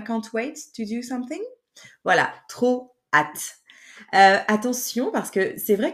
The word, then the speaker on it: hâte: donc on prononce h sans prononcer le H et c'est vraiment très